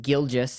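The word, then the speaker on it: Gilgeous: girl just Alexander yes his name is pronounced Gill gist Alexander he showed up with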